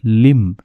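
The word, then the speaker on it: limb: तो उसका मतलब क्या है जो अष्टांग योग है इसका मतलब है कि आठ लिंब ठीक है बी साइलेंट होता है लिंब होता है अंग होता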